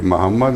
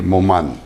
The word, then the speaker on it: Moman: I'm not Bashir Wali Mohammed. I'm Bashir Wali Moman. Okay, so please pronounce it that way.